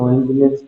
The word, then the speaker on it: Nginx: So, Nginx we know very well, we are pronounced it as Nginx.